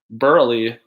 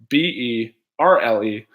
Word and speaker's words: Burley: This is with a silent E, Burley, Berle, not with a silent E, Burley, aka the.